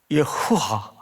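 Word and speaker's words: יהוה: 다닐 때 배웠던 기억으로도 우리가 숨을 뱉어서 숨소리로만 내는 발음이에요. 신기하죠? 예흐와. 그러니까 히브리 말에는 콧구멍 소리와 숨소리로 엉켜져야만이 겨우 흉내낼 수 있는 단어들이 굉장히 많은데 대표적인 글자가 예후와. 그걸 이제 우리는 여호와, 여호와.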